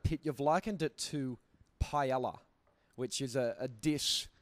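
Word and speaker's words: paella: Your album Planet Pit, you've likened it to Pella, which is a a dish. I hope you haven't. I can't even say it correctly. Yeah, because the double L it becomes a Y.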